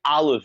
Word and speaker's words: Aleph: this I was like it's kind of like sound like Olive it Olive it Olive yes olive olive because it literally is